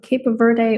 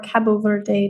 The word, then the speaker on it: Cabo Verde: it's the island of cap Verde or Cabo Verde depending on the local and more common pronunciation oh so cool and